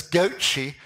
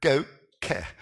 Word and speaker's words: GOCE: and that's what I'm it's spelt GOCE but because it's a European satellite right and because the Italians are involved right it's known as goichi rather than that go care right so here is